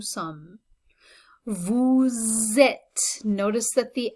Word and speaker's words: sommes: Okay, so notice that we have silent letters here too. Like 3 of the letters on the end are silent. Nous sommes.